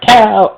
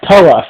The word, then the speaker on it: Towa: Turns out his name's not Tal. Actually, it's pronounced Toa.